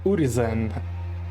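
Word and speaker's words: Urizen: Та у демона назва урізен, але саме так вимовляється Урізен, судячи з його губ.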